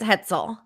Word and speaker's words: Hetzel: It's Hetzel. It's like pretzel. German.